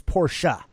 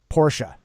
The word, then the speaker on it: Porsche: And the correct pronunciation is Porsche. Porsche. Yes, that Americans say Porsche. It's actually Porsche.